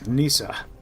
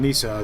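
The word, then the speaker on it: Nisse: He is Nissa. It's a Swedish thing. Um, actually it's a Scandinavian thing. In Sweden, they call him Nissa. There's slightly different pronunciations depending on where you are, whether you're in Norway, Denmark, etc.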